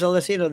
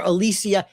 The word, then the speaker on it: Alyssa: Her name is Alyssa. The basketball. He calls her Alicia.